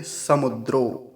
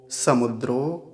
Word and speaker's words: समुद्र: आगे देखिए समुद्रों समुद्रों अब कुछ लोग क्या बोलते हैं समुद्र को समुंद्र बोलते हैं बीच में नकार लगा देते हैं अपनी ओर से या यहां पर अनुस्वार करके बोलते हैं समुंद्र कह देते हैं तो ये समुंद्र नहीं होता जैसे कुछ लोग कहते हैं समुंद्र हम समुंद्र के पास गए तो समुंद्र नहीं होता समुद्र होता है समुद्र समुद्रों अर्णव अर्णव अब